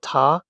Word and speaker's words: た: We've got ta, chi, t to t, and toe.